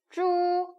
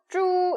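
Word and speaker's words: zhu: ZH, 그죠? CH, SH, R 다 뭐였어요? 꼬는 발음이죠. 그럼 줄 발음이었어요. 기억나시죠? 근데 U와 합쳐졌네요. 우 발음과 어떻게 읽어요? 쭈, 일성이니까 쭈 이렇게 읽으시면 되겠습니다.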